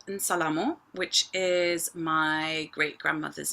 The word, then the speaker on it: Nsalamo: You can add a little I at the beginning of the n, which might help the pronunciation, but it's Nsalamo. Let's try that. Nsalamo.